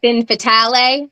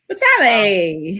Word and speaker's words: Fatale: They like to say finale because it has an e at the end. It's not French. It's finn fatal. Fatale.